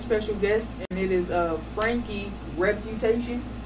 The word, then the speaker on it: Franke: A lot of people, say Frankie. Okay, right. So Frank, right. You got it.